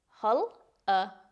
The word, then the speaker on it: hullabaloo: Another fun word is hullabaloo, pronounced hullabaloo.